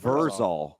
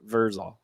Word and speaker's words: Vrzal: It is capital V, capital E, capital R, and then lowercase z, lowercase a, lowercase l, lowercase Vrzal. Yeah, Vrzal.